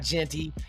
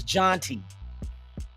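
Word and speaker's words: Jeanty: Jean is Jean the way they pronounce it in the French. You know what I mean? So I looked at it. I'm like, yeah, we've been saying his name wrong. It's not Genty. It's Jonty. Ashton Jonty.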